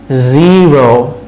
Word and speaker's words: zero: Zero, ওই যে টিভির ঝিরঝির আওয়াজটা, zero। Zip, zip, S উচ্চারণগুলো এভাবে শুরু হয়, আর Z উচ্চারণগুলো এভাবে, zero, zip, zebra, zebra, zoom, zoom, okay?